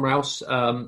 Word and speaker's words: Rous: it who is john is it rouse um there are problems with some of the early sources aren't there yeah yeah correct pronunciation john rouse is a monk who